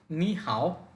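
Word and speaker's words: 你好: হচ্ছে ভালো তাহলে একত্রে নি হাও এইযে এখানে দুটি থার্ড টোন এজন্য প্রথমটিকে সেকেন্ড টোনে বলতে হবে উচ্চারণটা হবে নি হাও এর অর্থ হওয়ার কথা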